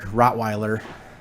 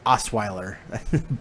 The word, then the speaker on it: Osweiler: Instead, you have a really motivated uh Blake Rottweiler. I can't pronounce his name. Was it Is it uh Oh, it's a Brock Osweiler.